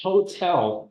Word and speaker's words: hotel: But look, hotel, history, historian. Oh, so in this case, the H sound is being pronounced and it's considered a consonant sound.